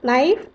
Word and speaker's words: knife: Letter K is silent when preceded by N. It is knife, night, etc.